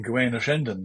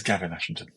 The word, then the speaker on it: Gavin Ashenden: I'm Gawain Ashenden, and my preferred pronunciation is Gavin Ashenden.